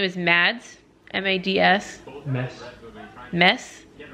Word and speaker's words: Mads: the things well his name is mads m-a-d-s mess silent or it's like an e that's kind